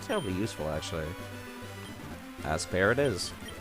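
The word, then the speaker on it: Aspear: not terribly useful actually as per it is I know I'm pronouncing it ass pair I am aware of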